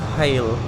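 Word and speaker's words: Hayle: Pronounced as hail.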